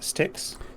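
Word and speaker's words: Styx: now reading about uh this how do you pronounce sticks sticks uh yeah sticks it's the yeah it's the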